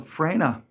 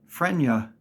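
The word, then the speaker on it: Freyna: pronounce these names so frina people still insist on taking the Y and putting it after the N so it's they say frenia or they put two y's in Fria we hear it all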